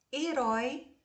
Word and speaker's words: herói: o Homem de Aço herói é uma oxítona terminada em ditongo aberto é acentuada somos fiéis